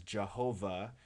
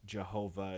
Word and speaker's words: Jehovah: It is often interpreted as Jehovah if you read the Yod as an I or a J. That isn't exactly correct, but you'll hear the term Jehovah as just another way